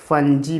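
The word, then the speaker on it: fungi: फंगी को हम फंगी भी पढ़ते हैं, और कुछ लोग इसको फंजी भी पढ़ते हैं। ठीक है, तो वो दोनों प्रोनाउंसिएशन बिल्कुल सही है, कोई प्रॉब्लम नहीं है।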